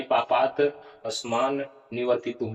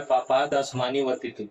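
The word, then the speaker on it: पापात् अस्मान् निवर्तितुम्: जिस तरह से पापात शुद्ध उच्चारण के लिए पापात अस्मान निवर्तितुम, इस तरह से। और इस तरह से यहाँ पर लिखा क्या हुआ है पापात अस्मानी वर्तितुम। इस तरह से उच्चारण करना नहीं है, उच्चारण करना है पापात तो।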